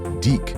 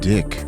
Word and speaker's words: DIC: Then we had Sonic the Hedgehog, which was an American-Italian show produced by DIC, pronounced Deek, not Dick, pervert.